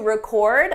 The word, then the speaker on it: record: We need to record a new record this week. The difference depends on syllable stress. With the verb, the stress is on the second syllable, record, record.